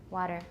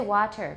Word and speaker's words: water: Well, if you're learning an American accent, it's useful to try and train yourself to use the tap because that's the way we say it. Water. Water. We don't say water. Water. Everyone, water. Water. Not w, it's wa. Water.